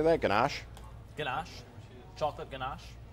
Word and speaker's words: ganache: Also, to celebrate Easter, Baskin-Robbins is offering a new, how do you say that, ganache?